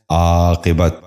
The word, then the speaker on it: عاقبت: غور سے سنیے، عارض۔ چوتھا لفظ ہے عاقبت۔ یہ غلط تلفظ ہے، درست تلفظ ہے عاقبت۔ دوبارہ سنیے، عاقبت۔ بچوں